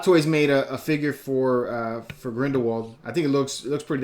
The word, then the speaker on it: Grindelwald: I did finally see just saw this past weekend the Crimes of Grindelwald, the second part to Grindelwald, right? That's how it pronounced. Grindelwald, yeah.